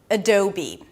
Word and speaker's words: Adobe: We begin with an sound, so it's a very small reduced vowel. It's the schwa sound, so don't open your mouth. Then the second syllable is do, as in don't do this. Do. It's a D sound, then the O as in go. And since it's the primary stress, you already know this,